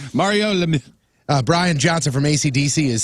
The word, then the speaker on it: Lemieux: Crappy birthdays: Jesse Eisenberg, 37; Kate Winslet, 45; Guy Pearce is 53; Mario Lemieux is 55; Brian That's Johnson. actually how you say it. Everybody's been saying it wrong all the time. Mario Lemieux.